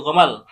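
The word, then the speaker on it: جمل: Jadi dia punya khas itu misalnya pengucapan Jamal itu kan artinya unta. Iya. Jamal. Head kadang lari pengucap ee bunyinya itu jadi gomal. Oh, jadi gomalkan gitu gamal ja itu menjadi go gitu kan. Oh jamal gomal ya.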